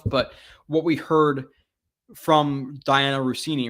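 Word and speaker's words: Dianna Russini: But what we heard from Diana Rossini, right?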